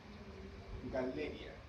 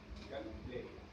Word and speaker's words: Galleria: Cuando hay dos L's, el nombre científico, ¿ya? No se pronuncia como llama, ¿ya? Sino uno tiene que pronunciar las dos L's de forma independiente.